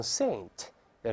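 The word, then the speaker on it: St.: 叫 Saint Andrew's Road，我们知道 ST 一点要读成 Saint，圣徒的意思，对吧？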